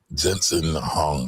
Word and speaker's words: Jensen Huang: Now, before we get going, that guy that she is talking about is the CEO of NVIDIA, Jensen Huang. I might be saying his name wrong.